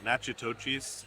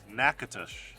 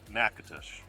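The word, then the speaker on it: Natchitoches: We pronounced it nachitochis, and I'm sure that's nails on a chalkboard to you guys. Apologies from Random Recess. We are so sorry. These are actually called Nakatosh.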